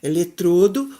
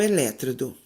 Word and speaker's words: eletrodo: Hieroglifo ou hieróglifo, Oceânia ou Oceania, acrobata ou acróbata, projétil ou projetil, eletrodo ou elétrodo.